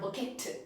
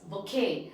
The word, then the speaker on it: bouquet: right the next one bokeh it is not bukit it is bokeh and the right pronunciation here in latin okay that is a